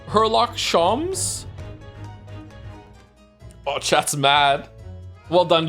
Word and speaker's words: Sholmes: Shoms is pronounced the same as Joms. Shoms. Herlock Shoms.